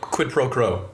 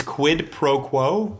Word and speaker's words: quid pro quo: what are you skipping quid pro crow they can you have me all messed up now i said it right it's quid pro quo yeah what is that